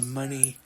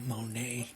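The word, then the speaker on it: Moné: around her waist Mercedes money I guess it is pronounced money not Monet have to remember that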